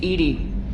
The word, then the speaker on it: EDI: why are you named ed ed is the phonetic pronunciation of EDI that is an acronym for enhanced defense intelligence how are you getting along with Joker mr.